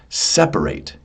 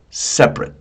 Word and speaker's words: separate: only the stress but also the uh the pronunciation. So listen carefully. The verb is separate. We have to separate my hands to separate. And listen to this. This is a crazy one. The the adjective is separate.